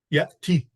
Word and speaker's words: يأتي: Yati. Mahmoud, can you pronounce it? Yeti. Yes. So the two of you pronounce it with a kasra, right? Yati.